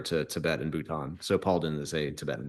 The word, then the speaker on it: Palden: to people, I'm like, it's Paul with a den at the end.